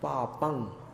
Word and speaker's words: पापं: पापं क्षणात्, पापं पंख जैसा उच्चारण होगा, पापम में म उच्चारित नहीं करना।